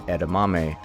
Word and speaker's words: edamame: And yes, my pronunciation edamame was correct.